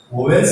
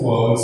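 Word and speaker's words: vowels: उसमें भी 26 में 5 वाउल्स, वोवेल्स नहीं प्रोनाउंस करो इसको, वाउल्स है, एंड प्लस जो लेटर है इसमें ये कॉन्सोनेंट्स, राइट।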